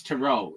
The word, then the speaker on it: tarot: But this one I'm sure of it's tarot. It's not ter. Nobody calls it tret cards. Was it Yeah, he knew what it was though. Okay. Well, anyway, yeah, tarot readings, that's how it's pronounced.